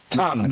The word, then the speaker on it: Tongue: Tongue. The tongue. Tong. Tongue, yes. How's it pronounced? Giving it the tongue. Is it pronounced Tong or tongue? Both, either, whatever you want.